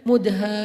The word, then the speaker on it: Mudhammatan: Bacanya juga harus panjang karena dia rimbun banget. Sehingga bacanya Mudhammatan.